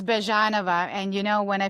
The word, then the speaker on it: Byezhanova: pronounce your last name correctly, please. It's Bjanova.